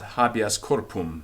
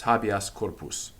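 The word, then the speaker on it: habeas corpus: still stays the same it's not happy as corporal that's wrong it's habias corpus so it which is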